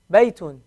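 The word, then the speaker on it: بَيْتٌ: A ya with a sukun is going to sound like what? Yi. Yi. So bay, bay, Baytun.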